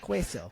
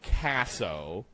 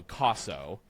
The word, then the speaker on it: Caso: Everyone always mispronounces my name, Queso. And it's not cheese. It's traditionally here in America we say Caso, but if you're saying it more correctly, it'd be the Roman vowel, so Caso.